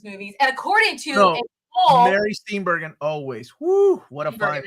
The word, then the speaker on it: Steenburgen: As you know, Elf is one of my favorite Christmas movies, and according to Mary Steenburgen, always. Woo, what a fine lady. That's how you pronounce it.